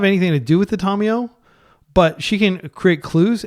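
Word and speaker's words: Tamiyo: reason to lead with the island get our Tom out TomTom it is pronounced Tomo by the way not tamio you may hear people say Tamo that's fine but she's from the Kagawa Shard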